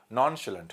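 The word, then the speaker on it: nonchalant: नॉन शलेंट, इसमें जो pronunciation है इसका नॉन, ये श है, शलंट, नॉन शलेंट, है ना, ठीक है।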